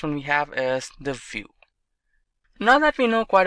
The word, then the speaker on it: Vue.js: complete web application solution view. GS is commonly referred to as View and pronounced as vuejs or view is rightly so now why